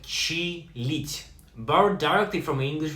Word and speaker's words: чилить: Word number 8, чилить, pronounced like чилить, borrowed directly from an English verb to chill.